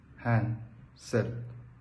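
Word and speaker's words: handsel: word of the day Handel pronunciation hand s meaning gift or a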